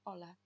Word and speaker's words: hola: Испанское H. Она не читается. То есть привет будет просто hola.